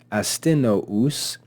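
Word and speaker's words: Astynous: Astinous, notice the 2 dots above the U, that's called a diaresis or diaresis. That tells us that this should be pronounced as 2 syllables.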